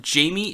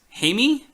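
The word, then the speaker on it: Jaime: his name pronounced before it's not Jamie it's hey me I'm gonna hear it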